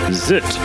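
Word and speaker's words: ZZT: be a death sentence the fact that it is not an acronym also confirms that the correct pronunciation really is zit Eugene hopefully now we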